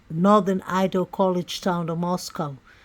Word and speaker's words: Moscow: Idol college town of Moscow pronounced not like the Russian Capal but to rhyme with Costco the locals with no